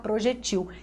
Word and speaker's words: projétil: Então, projétil é acentuada. Mas se você tirar o acento, você vai pronunciar projetil.